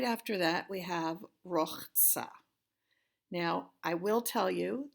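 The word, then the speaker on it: ורחץ: Now, I will tell you that as I've lived in different places, people have pronounced this in different ways. I grew up saying Rachtsa, but I didn't know about the Kamatz Katan then.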